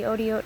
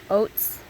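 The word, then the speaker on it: אותיות: I know sometimes I say oats for plural and sometimes I say Otiot. Otiot is really the true plural, proper way to say it. A lot of times it's just kind of more comfortable to say oats. It just kind of comes out because we're used to English.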